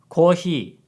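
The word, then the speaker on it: コーヒー: they gave her Coke coffee in Japanese is Koji so it sounds very different and because of this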